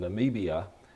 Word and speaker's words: Namibia: They were in Namibia. I said it wrong in the last show. I said Nambia, but it's Namibia, and that's way down in the southwest tip of Africa.